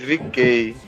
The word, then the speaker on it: VeeKay: Aí pegou o V e o K e tipo ficou a pronúncia, né? Do V e o K em inglês, VeeKay.